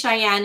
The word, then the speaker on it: ShiAnne: So her name is ShiAnne, and even though it's spelled differently, We still joke. We joke about when we went to Tennessee, we drove through Wyoming and we ate dinner in Cheyenne.